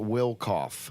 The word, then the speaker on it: Wilkof: do you pronounce it it's a will cough will cough is it like German